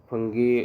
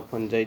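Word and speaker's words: fungi: तो फंगी या फंजाई, जो भी आप लोग प्रोनाउंसिएशन करते हैं, वो इसका ऑप्शन है B।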